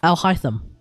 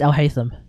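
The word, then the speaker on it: Alhaitham: On top of that, like A-L, Al. I see A-L, I say Al. I see H-A-I, I say hi. Because that's literally like hi. In Japanese, H-A-I, hi. Which means yes. And then T-H-A-M, tham. Al-Haytham. No. That makes sense to me. But apparently it's Al-Haytham. And I guess that makes sense too, because I guess you're meant to look at H-A-I-T as in hate, as in Haiti, H-A-I-T-I, Haiti, Al-Haytham. I guess that's how that's meant to work.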